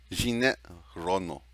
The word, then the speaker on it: Jeanette Reno: And you said, how do you pronounce it again? Reno. The whole thing? Jeanette Reno. Jeanette Reno. Yeah. Is that pretty close? Yes. Oh, okay.